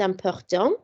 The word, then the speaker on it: importants: Je pense que les loisirs sont importants. So hobbies are important. So les because it's plural, and then important has a silent S on the end because it's also agreeing with the plural noun.